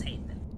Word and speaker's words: Haethon: And I am pronouncing that correctly, am I not? Yes, House Haethon.